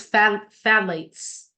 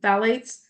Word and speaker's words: phthalates: And then the next one is phthalates, and that is how you spell it. It might be a Greek name or something. I don't know. In English, it's like, that should be not phthalates, but it is.